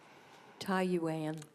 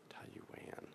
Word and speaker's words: Taiyuan: I'm going to Councilmember Weiner to tell me how to pronounce the name of our sister city. Taiyuan. Taiyuan.